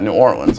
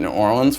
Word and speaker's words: New Orleans: snacking on them also when pronouncing New Orleans just remind yourself it is ore and lens like a camera lens kill them Swifty if